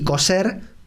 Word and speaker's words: coser: Y aquí nos detenemos un poquito porque en España sí hay diferencia fonética en muchas regiones de España entre la pronunciación de la C y la Z por un lado y la S. En muchos lugares de España se dice cocer para cocinar y coser para unir tela con hilo y aguja.